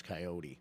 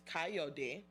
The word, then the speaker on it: Kayode: honest with you all, in my native tongue, the Yeah. pronunciation is Kayode. Kayode. Kayode. Okay. Kayode. But to easily, for patients and everyone to say, or I mean, easily say it, it's Coyote. Coyote. I just say Coyote.